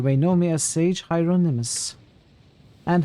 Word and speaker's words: Hieronymus: Not sure about the Greek pronunciation, but it's commonly pronounced Hieronymus. Okay. Hieronymus.